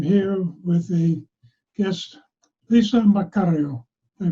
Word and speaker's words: Maccario: pins and i'm here with a guest lisa mccarrio i pronounced it right you did okay we had